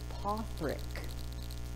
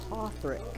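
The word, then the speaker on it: Padraic: no his name is you pronounce it potrik i know because he's welsh p-a-d-r-a-i-c and i didn't know this until last year pothrack patrick yes which again don't be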